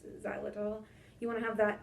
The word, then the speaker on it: xylitol: It's spelled with an X, xylitol.